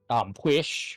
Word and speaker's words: Pwyll: There is Arawn, there is Pwish, which, looking at Pwish, you would not be able to pronounce it. Oh yeah, no. Because because it's PWYLL.